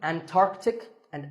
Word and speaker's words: Antarctica: The C in the middle is not silent. Similarly, Antarctic and Antarctica.